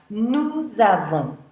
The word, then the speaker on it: nous avons: So notice that usually in French, you don't pronounce an S when it's on the end of the word, but when it's followed by a vowel, like it is in this case, we will pronounce it. So, nous avons.